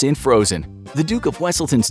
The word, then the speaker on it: Wesselton: you missed this in frozen the duke of wesselton's name is mispronounced as weaselton while in zootopia the character duke weaselton's name